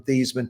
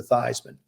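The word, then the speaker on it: Theismann: name from thiesman to this man she says well i tell you this she says the correct pronunciation is heisman and actually what they want to do is closer than what we have now so i got a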